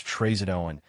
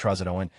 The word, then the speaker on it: trazodone: but in Silver Linings Playbook, the actors both pronounce the medication trazodone as trazodone, but every psych client I've seen all know it's pronounced trazodone.